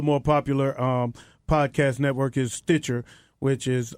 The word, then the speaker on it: Stitcher: And also the more popular podcast network is Stitcher, which is it's like Stitch with an ER. Stitcher. That's pretty easy. But Stitcher is more popular because